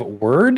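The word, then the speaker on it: Wyrd: of piqued my interest Hellboy web of word is how you say that uh roguelite action adventure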